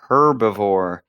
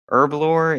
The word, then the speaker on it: Herbalore: Uh, first things first, Dills, it is not herbivore. That's like a koala. Herbalore is the lore of herbs, which are plants. And also, the H isn't pronounced at the beginning.